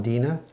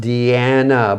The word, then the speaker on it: Deanna: on me oh deanna i was calling dina oh edina a is what it looks like but my name is pronounced deanna by the way thank you deanna